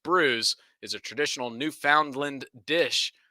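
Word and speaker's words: brewis: the asterisk to the footnote fish and bruise pronounced brews is a traditional newfoundland dish made from salt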